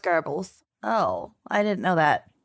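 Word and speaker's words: Goebbels: Geral gerles JBL the Nazi GBL oh and Gobles yeah but it's pronounced garbles oh I didn't know that you got to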